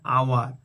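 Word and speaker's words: hour: অ্যান আওয়ার, তো এখানে এইচ থাকা সত্ত্বেও এইচটা সাইলেন্ট আছে এবং এইচ এর উচ্চারণ আ বা অ হচ্ছে, সেই জন্য এটি ভায়েল সাউন্ডের মতন আসছে, সেজন্য এখানে এর পরিবর্তে অ্যান বসছে।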